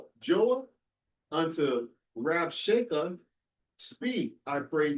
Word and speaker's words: Joah: Joah unto Rasha, speak I pray thee, to thy servant in the Syrian language.